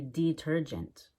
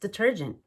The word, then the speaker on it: detergent: need some laundry detergent I wouldn't say I need some laundry detergent mm it's just detergent let's try some sentences